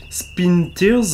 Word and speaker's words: Spintires: qui s'appelle spinters alors comment on prononce donc c'est de l'anglais spin spinars on peut dire ça comme ça donc c'est un